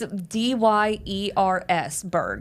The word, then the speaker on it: Dyersburg: Yes, but it's spelled Dyersburg. It's Dyers Berg.